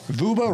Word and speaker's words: Vuba: So Vuba rhymes with Vuba. Scuba.